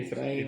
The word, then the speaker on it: Efraín: tal como se pronuncia. Efraín Efraín con acento ahí.